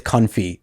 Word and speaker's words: confit: Yeah, we have to remedy confit. Oh. Apparently, it's confit.